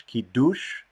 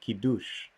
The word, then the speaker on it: Kiddush: so unlike kadish kiddush ki dush is kind of a sort of the ashkenazi or the americanized pronunciation of it sephardic hebrew might say kidus so if you're speaking